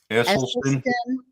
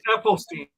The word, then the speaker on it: Esselstyn: Esselstyn. Esselstyn. Esselstein. Esselstyn. That's Um, Ethelstein. I don't think it's Ethel, but anyway, Okay, she's going live.